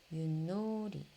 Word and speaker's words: 윷놀이: 그 다음에 얘는 어떻게 소리나? 윷놀이. 어떨 땐 디귿 소리, 니은 소리 이렇게 나네요.